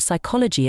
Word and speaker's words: psychology: more interesting and tricky think about the word psychology it's a high scorer with that silent P so the next time